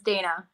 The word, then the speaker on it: Dayna: Is it Dayna or Dayna, or how am I pronouncing it? It's Dayna.